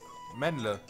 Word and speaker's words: Mendle: Mendle. Glückwunsch. Kommt wahrscheinlich aus dem Schwäbischen. Wegen dem Le.